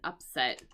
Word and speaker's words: upset: a player who was expected to win want to be an upset. Usually in English we use the word ups if so here the pronunciation upset right with the accent here um but we can